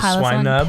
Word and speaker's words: Swinub: Is that how you say it? Yeah, Swinub. It's cute.